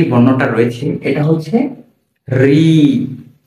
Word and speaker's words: ঋ: অনেকে এটা কে বলে লি না লি বলা যাবে না এর সঠিক উচ্চারণ হচ্ছে ঋ ঋ যখন আমরা এই বর্ণটা উচ্চারণ করবো আমাদের জিহ্বার আগাটা একটু কেঁপে কেঁপে উঠবে।